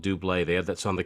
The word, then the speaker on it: Double: And And the main reason I say that is because there was that song, it's spelled double, but I think they were called Dubé.